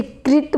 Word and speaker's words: कृत: जयानक कृत, ये देखो बच्चों की कृत है, मैं हर वीडियो में बताती हूँ, ये री की मात्रा है तो इसे कृत बोला जाएगा, री का उच्चारण किया जाएगा।